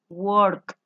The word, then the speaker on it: worked: caso de work, yo tengo que pronunciar esa terminación ed como una T de tetero. Worked. Una T hay que hacerla sonar. Worked.